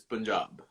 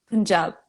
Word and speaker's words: Punjab: say it is is punjab punjab punjab yeah okay the emphasis is on the job job okay so what is